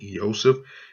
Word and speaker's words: Iesous: There's the pronunciation, Iesous, and as you can see, it starts with that iota, and this little comma here is called a tittle.